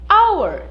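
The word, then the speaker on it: hour: palavrinha significa hora certo a pronúncia é ao in our veja que o h né Ele é mudo então certo our veja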